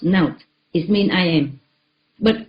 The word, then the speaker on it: NOT: N O T pronounced note.